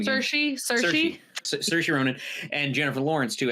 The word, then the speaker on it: Saoirse: I'm sorry, how do you pronounce Saoirse Ronan's name again? Saoirse Ronan and Jennifer Lawrence too, as the young